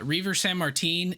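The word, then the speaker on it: Reiver Sanmartín: Reaver San Martin? Yeah. Yeah, Reaver San Martin, and then Hunter Green is making the opening day rotation, not opening day start, just in the rotation.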